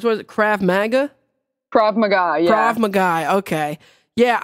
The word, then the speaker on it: Krav Maga: I'm not sure exactly how to pronounce that particular martial arts. What is it? Krav Maga? Krav Maga, yeah.